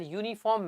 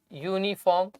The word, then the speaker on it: uniform: first letter of pronunciation the first letter of pronunciation of these words becomes y okay because if we